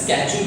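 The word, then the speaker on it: schedule: कोई भी time table या शेड्यूल होता है। शेड्यूल इंग्लिश अमेरिकन वर्ड ज़्यादा यूज होता है, स्केड्यूल जिसको बोलते हैं अमेरिकन प्रोनाउंसिएशन में।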